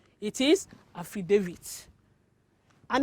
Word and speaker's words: affidavit: it have you been calling this word of affidavit as that bring your your pronunciation it is incorrect this word is pronounced as affidavit yes affidavit not affida not affidavit it is affidavit and it's just it means a written statement